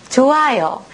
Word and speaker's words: 좋아요: 좋아요. 고노 히읗 받침 히읗가 기때 우시로니 이응 音が出ない이응が来ました。その時、このヒュンの音がなくなって発音すると、これが 시옷 오도가 낫고 낫대 좋아 요니 나는 데스네.